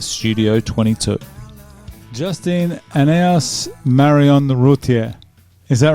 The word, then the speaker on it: Routier: How do you say your last name? Rutier. Rutier.